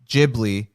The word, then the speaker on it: Ghibli: one of the recent ghibli films uh you know not hard g no i had to